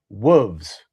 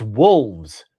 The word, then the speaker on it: wolves: and then you said wolves, and that's not right. It's wolves. There's an L. It's wolves.